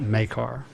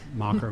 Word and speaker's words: Makar: So this is Makar, not Mocker, Macker, or whatever.